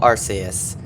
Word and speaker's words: Arceus: I am that which humans call Arus. Also, before someone goes into the comments and rants about how I'm pronouncing this name wrong, that is the Japanese pronunciation.